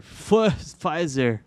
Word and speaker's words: Pfizer: fill that very soon you're supposed to pronounce p and pfizer pfizer let's go back to